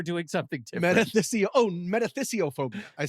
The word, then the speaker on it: metathesiophobia: thought we were doing something different metys oh metathesiophobia I said it wrong metathesis meaning the transposition